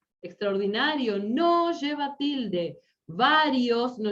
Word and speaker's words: extraordinario: Extraordinario, no lleva tilde, gente. Extraordinario no lleva tilde, porque en español es grave terminada en vocal.